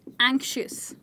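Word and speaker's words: anxious: Worried के लिए आप यूज़ कर सकते हैं एंग्शियस। मेरे बहुत सारे स्टूडेंट्स को इस वर्ड की प्रोनाउंसिएशन में प्रॉब्लम होती है, तो आइए एक बारी रिपीट करके देखते हैं। एंक शी यस, फिर से एंक शी यस।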